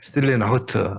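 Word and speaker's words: Stille Nacht: 프랑스와 영국에서도 잘 알려진 크리스마스 캐롤 스틸레 나우트. 발음이 맞습니까? 네, 스틸레 나우트. 독일에서 박사하신 분이 맞다고 합니다.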